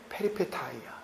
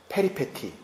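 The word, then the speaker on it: peripeteia: 페리페타이아, 페리페티, 페리페테이아. 뭐라고 발음하셔도 좋습니다. 어차피 그릭에서 온 거기 때문에.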